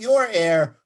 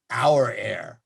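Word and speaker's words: Aura Air: and they put that in the release it's pronounced out not your air our air yes the arrow one numeral one and uh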